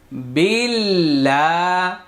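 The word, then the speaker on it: بِاللَّهِ: মনে আছে যে যত পেশ তত গোল পেশচার উচ্চারণ ঠোট গোল হবে আউ বিল লাম খাড়া জবর লা বিল্লা বিল্লা বিল্লাহ আল্লাহ শব্দের পূর্বে এখানে জের আসছে আল্লাহ শব্দের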